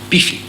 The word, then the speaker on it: Belfoy: Helens ground was Lady Betty Belfoy, pronounced Beefy, herself pretty swift.